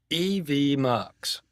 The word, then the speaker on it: EVMux: So, let's talk about EV mucks. And that's how it's pronounced. EV Mucks. It's actually stands for Event Multiplexer is what it stands for actually. EV Muks. M. Muk. M. Muk as in multiplexer.